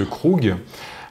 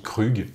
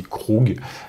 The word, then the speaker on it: Krug: Parce que moi je dis Krug mais en fait c'est Krug.